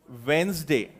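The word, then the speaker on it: Wednesday: अगर मैं उसको लिखूं तो वो ऐसा होगा वेडनेसडे ऐसा उसको हम एक्चुअली प्रोनाउंस करते हैं अब हिंदुस्तानियों को बुरा लग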